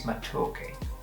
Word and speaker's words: matoke: I think it's matoke, would be the proper way to pronounce it.